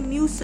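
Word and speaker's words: μ: जैसे कि डेंसिटी और रिफ्रैक्टिव इंडेक्स, जिसे हम म्यू प्रोनाउंस करते हैं, जो आपके सामने ये लिखा है ना यू जैसा दिखने वाला, इसे म्यू प्रोनाउंस करते हैं।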